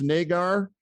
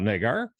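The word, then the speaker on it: Naggar: some competition they sign chris nagar i guess is how you pronounce it n-a-g-g-a-r he's a rookie out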